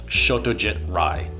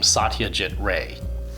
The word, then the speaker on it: Satyajit Ray: this legendary filmmaker is Satyajit Ray. The Bengali and Sanskrit pronunciations of his name are quite different, and I know that a lot of English-speaking film buffs have always pronounced his name Satyajit Ray.